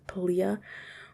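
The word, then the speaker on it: Palia: or pallia are trying i say palya but i think it's actually pronounced poliah we'll look into that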